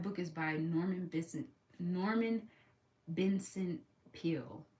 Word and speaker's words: Peale: But that book is by Norman Vincent Peale, I think is how you say it. Peel.